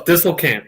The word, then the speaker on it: Disselkamp: Is that how you say it? Disselkamp? Close. Disselkamp, yes. Disselkamp. Oh, I was pretty close.